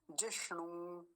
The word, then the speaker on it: जिष्णु: यो अगला शब्द देखिए जिष्णु जिष्णु एक मूर्धन्य सकार और एक दीर्घ उकार लंबा खींच दीर्घ उकार